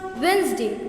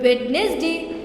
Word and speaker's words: Wednesday: Now everyone, don't let that sneaky D fool you. It's pronounced Wednesday, not Wednesday. Just ignore that D like you ignore text from your mom when she is asking if you cleaned your room.